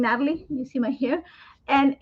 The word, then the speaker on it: Nathalie: the word the name Natalie you see my hair and in Spanish I'm from Ecuador you don't pronounce the h the H is silent so it becomes Natalie so that's probably why